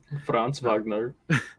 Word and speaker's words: Franz Wagner: wagner um franz wagner franz wagner dude i actually found out that's actually how you pronounce it yeah yeah it's german yeah i love him um